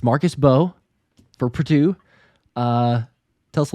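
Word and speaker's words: Mbow: But at first I was like, do I pronounce the M? Because the M is before, Mbo. But it's Marcus Beau for Purdue.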